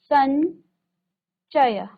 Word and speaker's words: संचय: तो अब यहाँ पर अनुस्वार बनाएंगे तो क्या हो जाएगा, संचय, संचय। तो यो का उच्चारण आ रहा है। ठीक है, यहाँ अंगा का उच्चारण आ रहा था, संगम, संकल्प, संगम, और यहाँ पर हम कह रहे हैं संचय, चय।